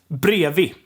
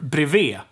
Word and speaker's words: bredvid: We have bredvid, which it sounds super weird to pronounce it like that. Bredvid. It's brevi. Brevi or brevet. It's super weirdly reduced, but it's brevet.